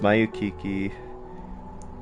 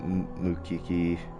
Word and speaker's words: Mayukiki: It's pronounced Mayukiki, not Mukiki, but sure.